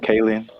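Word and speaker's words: Kaling: to say her last name, Kayen.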